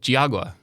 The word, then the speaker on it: Geauga: Oh, Geauga. You said Geauga. Okay. Yes. Yeah. Like real Ohio people know that Geauga Lake was the theme park that everybody went